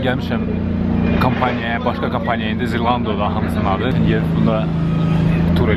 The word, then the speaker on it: Zalando: Zalando. Do I pronounce it right? Zalando. Zalando. Sorry, I pronounced it incorrectly. So Zalando.